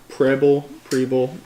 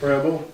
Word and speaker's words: Preble: So, last week, 2 ships, the USS Preble, I don't know how to pronounce that. Rebel?